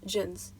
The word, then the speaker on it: jinns: I am talking about jinns pronounced as jins equation must attributed to